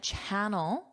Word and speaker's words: channel: A giant channel. Notice the pronunciation here, ch ch channel, not sh ch ch channel channel.